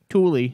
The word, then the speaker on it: Tooele: Tooele, T-O-E-L-E, like Tooele. No, and then or hurricane being pronounced hurricane.